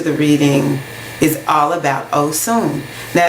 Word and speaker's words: Osun: So Irasun has to do with the Orisha Osun. O-S-U-N. A lot of times we say Oshun, but that is spelled differently. The S is a little bit different in the word Oshun.